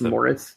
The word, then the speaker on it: Maurice: I believe his first name is Maurice. His His name is Maurice Mikwhite. I think it's Morris. I think it's like, you know, Maurice is sometimes pronounced Morris.